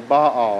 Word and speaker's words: Baal: quite a bit is a god named ba or Baal I've heard it pronounced two different ways okay he has a